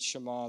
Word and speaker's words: Shema: say hear the word Shema or Shema I pronounce it Shema though it means here and this is the